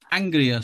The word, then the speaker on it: Aungier: First of all, we'll do it as Aungier Street, which apparently is how it's pronounced to sound like angrier.